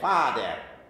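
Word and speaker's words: fæder: Fader. There's that ash. Fa. Fader. That's how it would have been pronounced. That's why they spelled it that way.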